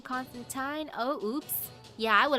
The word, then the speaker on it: Constantine: You know, I would have thought Constantine, but if it rhymes with fine, Constantine, oh, oops.